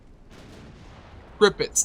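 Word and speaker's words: Tirpitz: Tripits, not turpits. Tripits. Spelled like this.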